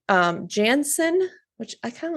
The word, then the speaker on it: Jansen: his first name so Jansen Jansen Not Jensen yeah it's j ANS o n oh oh yeah ours